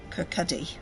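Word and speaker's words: Kirkcaldy: lives in now got to say it right Kirk Cuddy which is what about half an hour's drive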